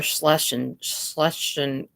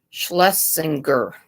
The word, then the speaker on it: Schlesinger: Rush Limbaugh and Laura Schlesinger. I can't say that word. Schlesinger. I think that's how you say her name.